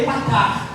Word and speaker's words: Efatá: eu li para você, Efatá. Em hebraico é Epatá. É o mesmo som, Epatá.